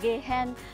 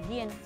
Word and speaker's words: Gehan: Tiếng Việt mình đọc là Gehen Homes, nhưng mà Mỹ đọc là Gien, giống như là ghiền đó các bạn, ghiền nhà.